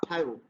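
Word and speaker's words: thio: থিও না থায়ো।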